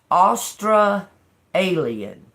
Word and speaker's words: Austra Alien: It's listed as Austra Alien. Okay. And it's spelled like that. A U S T R and then A L I E N.